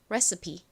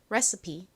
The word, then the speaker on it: recipe: 원래 영어 단어에서는 가장 끝에 E는 묵음으로 소리가 나지 않아서 끝부분이 PE로 끝난 경우에는 보통 P가 아니라 P 이렇게 P 소리가 나는데 이 단어에서는 예외적으로 E가 헛개비가 아니라 자기 역할을 합니다. E 소리를 내요. 그래서 이 단어가 recipe가 아니라 recipe 이렇게 소리가 나는 거죠.